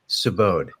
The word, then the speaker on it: Subodh: Sabode. It It's uh rhymes. Yeah. It's like rhymes with abode and the last name rhymes with tundra.